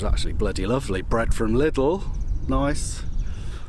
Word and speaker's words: Lidl: Bread from Lidl, nice, or as my grandma used to say, Lidl, because apparently that's how you meant to pronounce it, but whatevs.